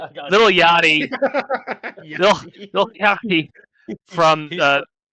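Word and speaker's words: Lil Yachty: two years and beat Trick Williams who had Little Yaki with him and Little Yaki or Yaki, I don't know how to say his name. Yachti. Little Yachty.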